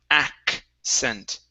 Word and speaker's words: accent: one for you is the word accent right here so this first C is a k sound then we have the S sound accent accent ACC okay one